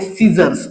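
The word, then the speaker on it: scissors: जे एक्झाम्पल आहे ते सिजर्स सिजर्स हा शब्द वाचन करत असताना आपलला सी जो आहे हा सायलेंट होताना दिसत आहे लक्षात घ्या म्हणजेच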